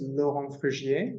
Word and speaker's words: Laurent Frugier: know you yeah sure so my name is Lohan frigier you can say you can pronounce it lawrenceburger it's up to you and